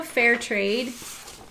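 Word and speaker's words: Fehr Trade: saw do you know fairtrade she does um athletic clothing and her name is spelled f-e-h-r fair trade she just started offering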